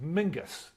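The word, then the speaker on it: Menzies: like menses isn't pronounced menses. It's pronounced mingus.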